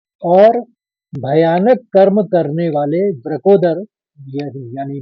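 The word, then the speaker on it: वृकोदर: इस श्लोक का अंतिम शब्द है ब्रकोदरा ब्रकोदर बोलते हैं दो शब्द मिलके बना है वृक और उदर उदर माने पेट होता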